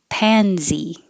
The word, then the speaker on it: pansy: shades of purplish pansy it looks like an s but it sounds like a z pansy those were here weren't